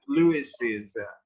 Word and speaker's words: Lewis's: Okay, so you have to pay attention to pronunciation. I recently read it's Norman Lewis's book.